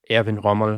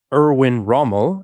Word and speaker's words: Erwin Rommel: That's where Erwin Rommel, uh Erwin Rommel, if I want to use the uh the English pronunciation, is born.